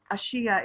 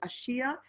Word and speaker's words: Ashia: no i don't okay what i have what i'm hearing is a shia i believe that's correct okay a-s-h-i-a and her name